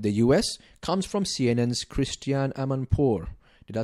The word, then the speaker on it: Christiane Amanpour: approved cooperation with the US comes from CNN's Christiane Amanpour did I say her name right yeah she's